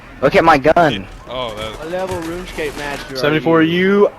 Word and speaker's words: RuneScape: I still want to know what RuneScape is. Runescape it's is how like- it's pronounced.